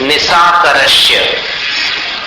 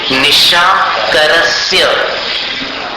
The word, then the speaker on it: निशाकरस्य: निशा करश ये उल्टा उच्चारण है। निशा करश ये उल्टा हो गया। होना क्या चाहिए? निशाकरस्य समझ में आ गया